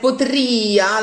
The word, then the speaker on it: potria: Also, when you like potria, like io before, the accent falls on the I of potria, and that's what we need to hear for the whole length of the note.